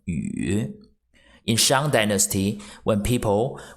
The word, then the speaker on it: 雨: In Chinese, rain, the pronunciation is 雨. 雨 third tone 雨.